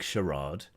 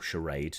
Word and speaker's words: charade: So it's a big charade, or charade, depending how you want to pronounce it. Me being from the south of England, from the home counties, pronounces it as charade.